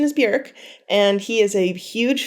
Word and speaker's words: Björk: Many people pronounce her name Bjork, but the correct pronunciation is Björk.